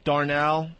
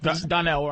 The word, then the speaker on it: Donnell: I went to see Bill Burr, Darnell. Is it Darnell? Donnell. Donnell.